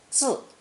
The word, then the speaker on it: 字: An infant under a roof means to bear and raise a child, pronounced fourth tone, 字.